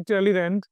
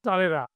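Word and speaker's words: Talleyrand: যাকে আমরা ইংরেজিতে উচ্চারণ করছি ট্যালির্যান্ড, তাকে আমরা ফরাসিতে উচ্চারণ করছি তালেরা।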